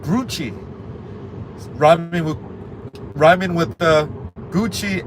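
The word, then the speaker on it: Grucci: So the company Gucci I think that's a Italian pyrochnic group rhyming with Gucci and Coochie and Gucci but does not rhyme with dookie.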